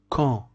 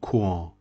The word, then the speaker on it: quand: These two letters, it is pronounced K, and this one E. So key. Key means who. Quand. Don't say quand.